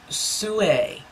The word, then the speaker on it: Soo Ae: This is made by the, I believe it's pronounced Soe. It's S-O-O. Space and then AE.